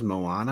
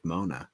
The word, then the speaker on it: Moana: um mona so ever i think everyone mispronounces moana i think it's pronounced mona yeah moana's fire dude